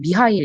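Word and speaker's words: Mícheál: 그러니까 가챠 스펠링 인데 마이클이 라고 발음할 수도 있고 아일랜드 식으로 하면 미하일 이라고 발음을 할 수 있는데 이 친구가 y 크리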